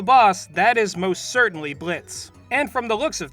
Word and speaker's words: Blitzo: of a boss himself blitz yes the o is silent i don't know why